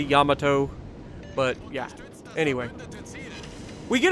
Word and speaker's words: Yamato: other Japanese battleship the Yamato or Yamato is I know it can be pronounced either way I'm I'm just used to Sadie Amato I know it's technically Yamato but yeah anyway we